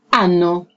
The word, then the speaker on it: anno: Anno. Anno. So it's important to put the stress on the N, right?